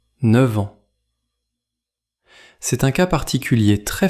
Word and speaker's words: neuf ans: Dans l’expression neuf ans, le f de neuf se prononce comme v devant ans. Écoutez : neuf-v-ans. C’est un cas particulier très fréquent quand nous parlons de l’âge. Répétez : neuf ans.